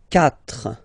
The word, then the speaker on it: quatre: Quatre, quatre, okay. So remember that even if you get this u vowel here, basically you don't pronounce it, because that's the rule in French.